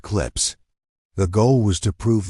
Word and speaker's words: CLPS: The program was called commercial lunar payload services or CLPS pronounced clips.